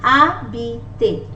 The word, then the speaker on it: habiter: For example, in this verb called habiter, letter H is muted. It's often muted in French, and we pronounce starting from the letter A. Habiter, habiter, habiter means to live in.